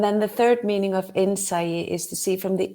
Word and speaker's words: Innsæi: I just love the way you pronounce the word "say." Can you say it once more? Innsæi.